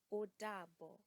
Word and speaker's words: odabo: To say goodbye is odabo. Odabo. Now again, notice the intonation in that O in odabo. That sounds like the O sound, okra.